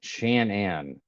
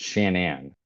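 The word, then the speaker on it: Shanann: apparently apparently it's pronounced Shan Anne um it's Shannon yeah apparently she changed it and it's pronounced Shannon I I are you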